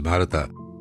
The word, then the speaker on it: Bharata: Bharat, actually, his name is Bharat, but in English we pronounce as Bharata.